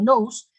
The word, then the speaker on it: nous: un agente externo llamado nous que se pronuncia como luz que es una inteligencia